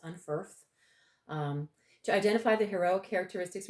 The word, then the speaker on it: Unferth: Unferth and Beowulf and that is correctly helped pronounced Unferth to identify the hero characteristics revealed in Beowulf